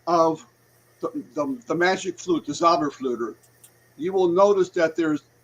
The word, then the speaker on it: Zauberflöte: called the Magic Flute, which was the Zauberflöte, which that's how you say it in German, the Zauberflöte. Anytime you have an opera, there's an overture that comes before the opera begins.